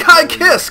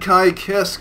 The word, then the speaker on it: Ky Kiske: two oh look look look they said it right they said they took high kiss can you believe it they actually said kai kisk oh my god it's